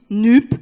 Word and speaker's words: NUPES: français donc très basiquement on le prononce comme ça s'écrit nuque et on ajoute si